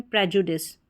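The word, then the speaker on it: prejudice: इसको प्री या प्र करके प्रोनाउंस किया जाता है।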